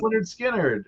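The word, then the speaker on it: Lynyrd Skynyrd: Steely Dan, uh Pronounced Leh-nerd Skin-nerd, uh you know, Black Sabbath debut.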